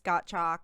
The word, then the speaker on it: Gottschalk: It's Gottschalk, like got milk.